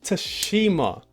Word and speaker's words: Tsushima: Ghost of Tsushima. Fine. Yeah, I knew the T is silent.